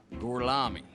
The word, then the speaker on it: Gorlami: Gorlomi, Lo pronuncio correttamente? Sì, corretto. And so he's starting to test their Italian by making them repeat their names. Per cortesia, me lo ripeti ancora? Gorlami.